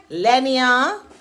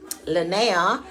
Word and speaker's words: Linnea: But my name is Linnea, and it rhymes with the prayer if you're into praying.